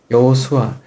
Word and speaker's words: 여호수아: 여호수아. 헬라식으로 발음하면 예수예요. 여호수아, 예수아, 예수 뭐 이렇게 되는 거예요.